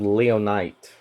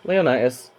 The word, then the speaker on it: Leonitis: I was pronouncing it wrong when I first thought it or remembered its name. Thought it was called Leonite, but no, Leonitis does get an evolution later in the game.